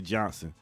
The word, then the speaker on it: Johnston: actually my homegirl Renee Johnston you say Johnston when you ain't from Trenton when you say we've been Trenton you don't pronounce the t's you just say Johnson so Renee sending uh